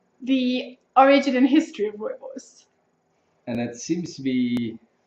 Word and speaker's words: Rooibos: Rooibos. The bit of a rolling R.